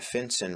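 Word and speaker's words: FinCEN: for suspicious activity and a finson report that's spelled f Cen which stands for financial crimes enforcement Network and is part of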